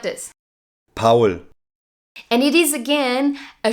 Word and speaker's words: Paul: European country in German it sounds like this Pawel and it is again a short and very easy to pronounce name which makes it very international Yanis